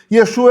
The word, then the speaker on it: Yeshua: Yeshua é a pronúncia de Jesus em hebraico, tá bom?